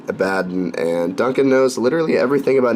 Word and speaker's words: Abaddon: abadan black on them I always thought it's pronounced Abaddon but Duncan says it a bad and Duncan knows literally everything